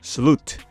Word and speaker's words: slut: Before you say something about the word slut, it is pronounced slut, and it means end in Danish.